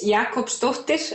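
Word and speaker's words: Jakobsdóttir: your last name means and how you would pronounce it well my last name is Jakob stuffed dish and it means daughter of Jakob because in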